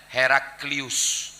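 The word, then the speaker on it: Heraclius: herald Hah rocop lam ada membacanya her call tapi orang barat membacanya heraklius ujungnya ustiletto heraklius heraklius dikirim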